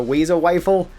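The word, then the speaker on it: Wazer Wifle: So, the very first one is called the Wazo rifle, which I hate saying it like that, but that is how it's written. That is how it's pronounced. So, the Wazer you get from a kid named Billy Billy.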